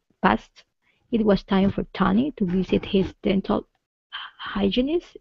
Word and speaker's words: Tony: Instead of Tani, Ta, it's Toe. Tony.